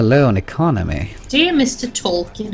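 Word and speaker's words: Tolkien: on economy Dear Mr tolin however do I pronounce this say it like you're about to sneeze is that really the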